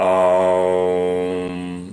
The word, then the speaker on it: aum: sounds similar to om when you use aum it's more of a um this is a very